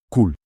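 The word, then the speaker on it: قُلْ: Cul, pausa. A palavra cool significa dize. O som inicial vem da letra árabe kaf e deve ser pronunciado um pouco mais profundamente que o nosso K.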